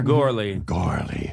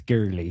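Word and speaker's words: Gourley: Is it, how do you say, what's that vowel exactly? Is it? Gore. Like gore, like Yeah. gore. Gorley. Yeah, although when I went to Ireland, they said it's girly.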